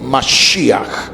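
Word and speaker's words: משיח: Mas, una expresión hebrea que se escribe con cuatro letras del idioma hebreo. Men, shim, y het. Men shim, yod y. se lee masíj.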